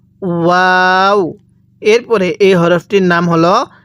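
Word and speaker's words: هاء: এরপরে এই হরফটির নাম হলো হা। অনেকেই এখন প্রশ্ন করতে পারেন, হুজুর আমরা উপরে একটা হা পড়লাম, এখানে একটা হা পড়তেছি। দেখুন এই হাটা উচ্চারণের সময় মুখ দিয়ে আওয়াজ করে পড়তে হবে।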